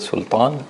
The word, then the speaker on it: سلطان: أرسلنا, and the word sultan, the sin is soft.